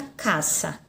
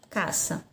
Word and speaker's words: casa: tenho na língua portuguesa essa palavra casa mas anime espanhola a pronúncia fica à caça caça certo então é se na língua espanhol você sempre o quanto que na língua portuguesa aqui fica casa né é mas liga